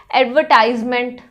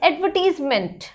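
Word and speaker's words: advertisement: एडवर्टीजमेंट्स को भी गलत प्रोनाउंस करते हैं बहुत सारे बच्चे, एडवर्टाइजमेंट, इट्स एडवर्टीजमेंट, एडवर्टीजमेंट।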